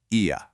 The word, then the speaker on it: Oia: The most famous village for the sunset is spelled OIA, but plot twist, it is pronounced E-ya. The O is completely silent.